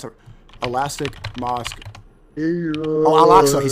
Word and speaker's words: Al-Aqsa: And this Elastic Mosque in Jerusalem, is that how do you pronounce it? Elastic Mosque. Oh, Al-Aqsa.